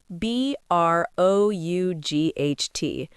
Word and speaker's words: brought: B R O U G H T. Bring is irregular. Bring. Brought. The spelling changes completely and so does the pronunciation. It rhymes with caught and thought.